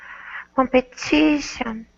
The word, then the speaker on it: competition: first TI is is the first TI is the stressed syllable and when you have a stressed syllable you have to actually say the vow the second TI is part of an unstressed syllable and it's not really TI its tion it so it's only two unit that you cannot break down further it's one unit tion oh that exactly so